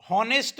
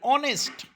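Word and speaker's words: honest: बी ऑनेस्ट, हॉनेस्ट नाही, ऑनेस्ट, प्रामाणिक राहा. कारण हॉनेस्टच्या स्पेलिंगमध्ये एच हे सायलेंट लेटर आहे, राईट.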